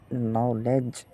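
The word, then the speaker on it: knowledge: এই নলেজের ক্ষেত্রে দেখেন কে এন আছে। কিন্তু এই কেটা কি হয়ে গেছে? অনুচ্চারিত। অনুচ্চারিত আমি এই তীর চিহ্ন দিয়ে দেখিয়ে দিচ্ছি। এই কেটা উচ্চারিত হবে না।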